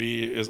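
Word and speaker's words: Oia: other side from yeah it's spelled o i but they call it I right I'm still friends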